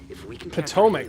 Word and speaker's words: Potomac: Potomac, that's how you pronounce it.